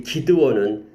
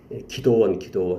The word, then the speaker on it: 기드온: 이스라엘과 이렇게 화친을 맺었던 기브온이고 이 기드온은 사사죠. 기드온. 기도원 이렇게 발음이 되기도 하죠.